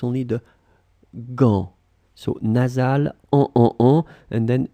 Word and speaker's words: gants: Où sont tes gants? So remember, gants, you can see that there is T, there is S at the end. You don't pronounce it, so it's only the gants.